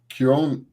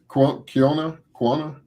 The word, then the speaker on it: quinoa: It's Kiona. How do you pronounce this, guys? Quinoa. That's Quinoa. Quinoa.